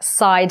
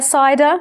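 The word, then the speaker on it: cider: есть у нас сидр который по-английски произносится как side а там уже сами выбираете с чего он с айда из груш apple сайда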